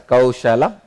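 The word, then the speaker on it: kauśalam: I am not going to pronounce this as a kaushalam. I will call it as kauchalam only.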